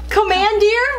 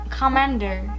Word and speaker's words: commandeer: right commandeer uh-huh what commandeer no come commander commander no it's not commanded commandeer I've never heard that